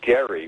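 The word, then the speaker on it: Gerry: it's named after Governor Elbridge Gary with the with a hard G by the way in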